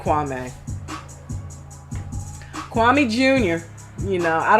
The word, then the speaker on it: Kwame: Kwame reminds me a lot of, and I gotta stop saying Kwame because apparently it's pronounced Kwame, but he's so similar